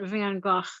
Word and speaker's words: Van Gogh: on Facebook where Vincent van Gogh, his name is pronounced Van Gogh, is awakened, in the 20th or 21st century, whichever one we're in.